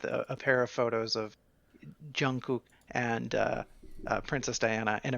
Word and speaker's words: Jungkook: No, I looked up how to pronounce his name just for everybody. It's Jungkook.